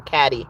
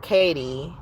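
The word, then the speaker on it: Cady: But because she is who she is, Regina was, the competition was Katie or Caddy. They would accidentally pronounce her name Caddy because it was spelled like caddy, like who's my caddy, or the golf caddy, right?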